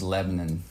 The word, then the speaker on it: Lebanon: It's just Lebanon. Lebanon. I'm learning it too, but yeah. Well, I showed my Minnesota like Lebanon. Yeah, you did. It's okay. I'm more and more convinced that we just say it wrong.